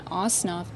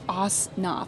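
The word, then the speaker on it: Ossoff: passionate about John osof I keep wan to say OSN I'm sorry John ooff um or osof I guess I got to figure out how to pronounce that correctly but it's not OSN is what I keep saying tonight sorry about that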